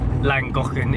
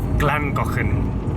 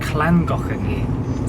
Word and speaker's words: Llangollen: It's not Langokan, it's Glangoken. Clangocken. So like L's are pronounced as se in Wales.